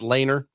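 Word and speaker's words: Lehner: I believe it's Laner. L E H N R of Mador.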